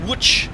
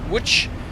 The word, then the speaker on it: Łódź: now that's pronounced Łódź, isn't it? Not Łódź.